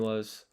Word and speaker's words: は: I might be wrong here, but いくつありますか And then this one was どいたしまして This one was okay, lock in. それ Okay, so I'm writing ha, but it is pronounced wa because the wa particle それは and then what?